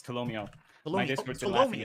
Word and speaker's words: Tolomeo: Is it Tolomeo or Tolomeo? I always forget how to pronounce it. It's Tolomeo.